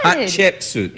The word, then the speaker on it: Hatshepsut: Yeah, because most people can't pronounce it. They say Hatshepsut. I and say they stumble Hatsheput. over it. That works too. Hat she put. Good, but you have to go with the hat.